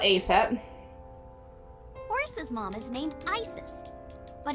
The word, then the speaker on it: Isis: Horse's mom is named Isis, but in ancient Egyptian, it's pronounced closer to Isa or Aset.